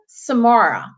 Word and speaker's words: Samura: And then we've got Samura. Did I pronounce that correctly? Yes, you did. It's Samura.